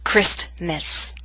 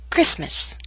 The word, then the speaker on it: Christmas: some words we always omit or leave out the tea for example Christmas never say Christmas only Christmas now here's a list